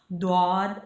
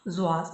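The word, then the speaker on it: ضاد: जो वर्ड्स है जो अरबिक में प्रोनाउंस करते हैं द्वाद और जुआद दोनों तरीके से प्रोनाउंस करते हैं, लेकिन उर्दू में इसको हम प्रोनाउंस करेंगे जुआद।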